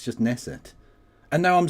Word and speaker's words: Knesset: Is the K silent or not? Cuz I used to pronounce it Knesset and people said no the K is silent. It's just Nesset.